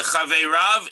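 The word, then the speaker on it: חבריו: chaveirav is in brackets because it's pronounced chaveirav, but it's written in the Tanakh, the way the tradition, the Masorah, has the scroll written, is that it's written without a yud, so it looks like chaveiro, his fellow.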